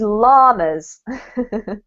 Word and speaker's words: llamas: Okay, this one, I know this is like not from English originally, but the way that we pronounce it in our very Englishy way is llamas.